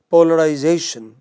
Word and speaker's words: polarization: but come to a word like polarization you know fourth syllable from the beginning second from the end you know it this